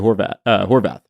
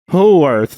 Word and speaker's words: Horwath: the mayor of Hamilton, Andrea Horwath. Oh, okay. But her name is spelled Howarth. So I was like, Andrea Howarth.